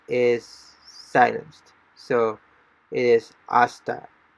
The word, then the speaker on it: hasta: silenced so it is asta so h we don't pronounce the h so it is asta until and the last